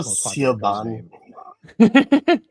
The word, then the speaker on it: Siobhan: I like Siobhan just because I like watching stupid Americans try to pronounce it. Hello, Siobhan.